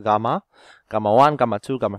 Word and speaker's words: gamma: now let's just jump straight into it given four circles uh this letter this is a greek letter it's pronounced as gamma gamma one gamma two